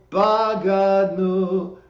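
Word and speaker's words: בגדנו: for this, is that the words are pronounced Ashamnu, Bagadnu, Gazalnu, Dibarnu Dofi.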